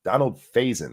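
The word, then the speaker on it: Donald Faison: of season n season 9ine was just trash Donald phasin that's how you say it sorry um none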